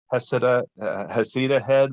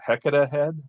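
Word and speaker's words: Heceta Head: And there's multiple pronunciations too, like Heseda head versus Hecata head. All the old timers used to say Hecata.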